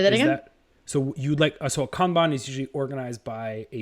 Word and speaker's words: Kanban: I would love it if it was displayed in the Kanban. Am I pronouncing that right?